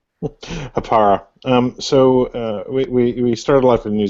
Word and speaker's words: Hapara: Jan, do you want to give the listeners and readers a quick overview of what is Hapara or Hapara, depending on where you live, how you pronounce it? Hapara.